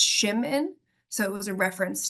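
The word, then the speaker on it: Szymin: um so actually um shim's original last name it's polish and PR my pronunciation might not be great but it's shim in so it was a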